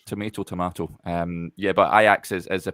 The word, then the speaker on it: Ajax: this is me getting slagged for my uh pronunciation of kayaks I've changed it from Ajax there we go you got it yeah you